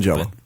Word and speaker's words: Tangelo: outside It's of pronounced this book, Tangelo.